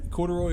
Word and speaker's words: Corduroy: But if you break it up in 3 syllables, it's the best word. Corduroy.